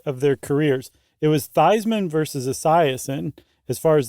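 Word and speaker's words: Theismann: it really beasman yeah The Story Goes it was Joe thean and in college he changed it to thyman to rhyme with Heisman oh really that's what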